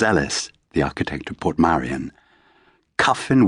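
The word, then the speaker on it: Kyffin: Cuffin Williams, the painter, rhymes with puffin.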